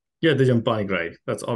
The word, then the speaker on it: Dijam Panigrahi: Yeah, Dijam Panigrahi.